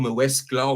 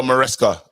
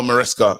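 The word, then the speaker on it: Maresca: Um, Enzo Mesla or something. I mean, that's how I pronounce it. But may maybe you guys can um um say it better than me. No, it's Enzo Moresca. Enzo Moresca.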